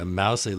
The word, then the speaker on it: Mousehole: Chumlee looks like it's troll Mon Delhi and mousey looks like a Mousehole there's also Fanshawe which